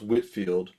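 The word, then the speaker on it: Whitefield: Actually, it's pronounced Whitfield.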